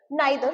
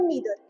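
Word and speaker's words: neither: Right, नाइदर और नीदर, इसको नाइदर भी बोलते हैं और नीदर भी बोलते हैं, आपको जो सही लगे आप प्रोनाउंस कर सकते हैं।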